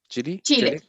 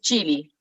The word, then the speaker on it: Chile: right pronunciation chili chili what do you pronounce it chile in spanish and in english is chili stewart please put your